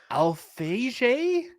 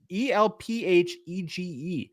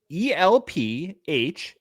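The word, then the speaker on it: Elphège: Marcel Alphege. I don't know how to say his middle name. It's Elphege. Say it again. Elphege. It's something French.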